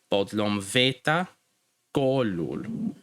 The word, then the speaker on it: bodlom veta kolul: Something else to keep in mind when pronouncing the words is that the stress, so the emphasis of each word is going to be usually placed on the second last syllable.